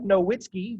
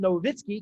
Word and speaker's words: Nowitzki: of famer dirk nowitzki it looks like nowitzki but it's pronounced novitskiy because he's german so w's are pronounced